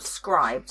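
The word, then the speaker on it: Scribd: listen this on script or scribed as I think it should be pronounced but every it SC scri should be scribed cuz you're scribing scribe yeah so yeah if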